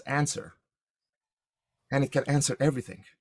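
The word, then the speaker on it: UNSR: unified neural semantic representation u n s r which you can pronounce as answer and it can answer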